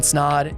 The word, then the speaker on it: Snaadt: My name is Snaadt. It rhymes with odd, and I'm out.